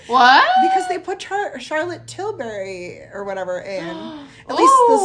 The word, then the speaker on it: Charlotte Tilbury: in huge ass how you say it Charlotte Charlotte Tilbury that is right which I have never been